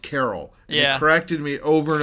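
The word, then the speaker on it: Carell: me that Steve carrell's last name was pronounced Carol they corrected me over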